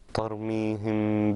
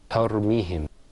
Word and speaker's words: ترميهم: But that first letter in that verse, ترميهم, this is a ta. Okay, not a ta. Okay. So try to make it more clear. ترميهم.